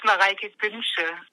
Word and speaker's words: Mareike Günsche: It's Mareike Günsche. It's hard to pronounce.